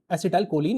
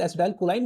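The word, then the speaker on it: acetylcholine: नाम है एसिटाइल कोलाइन, एसिटाइल कोलिन या फिर एसिटाइल कोलाइन भी बोलते हैं, अपनी अपनी प्रोनाउंसिएशन की बात होती है।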